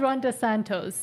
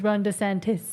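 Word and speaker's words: DeSantis: Okay, let's get right into actually Ronda Santis. Is that how I say it? Because you're always angry at me. He always says Ronda Santos and it's Ronda Santis.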